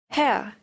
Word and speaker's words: Herr: Herr. Mr. This is one syllable only. Be very careful with the sound. Herr.